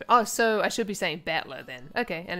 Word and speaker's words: Battler: Blah blah blah is made up of the characters fight and person, and it's oh, so I should be saying battler then. Okay, and it's pronounced battler.